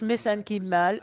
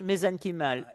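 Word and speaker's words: mesenchymal: viens du New Jersey, je prononce les choses différemment de beaucoup de gens. C'est la façon dont ils le prononcent en Irlande. On le prononce différemment ici aux États-Unis, mais j'utilise la prononciation irlandaise, les cellules souches mésenchymal.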